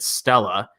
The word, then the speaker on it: STLA: the next few years there is stla or uh the executive is actually pronounced at stella uh stella small stella